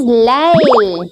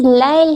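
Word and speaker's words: ليل: It is Layl. Yes, this is Layl here.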